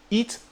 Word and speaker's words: eat: Si tu dis juste eat sans le H aspiré, eat, E-A-T, ça veut dire manger en fait.